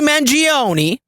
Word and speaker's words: Mangione: folks Luigi mangioni I think that's how you pronounce his name is in jail and he's